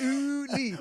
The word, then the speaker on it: Uli: This guy's name was Uli. And Wait, Uli? Yeah. U-L-I? Yeah. How do I? No, okay. Did I say it like ooh, like OOLI? You like ooh-lee.